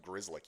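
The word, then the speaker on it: Grzelcyk: Crazy that that name's pronounced Grizzlick.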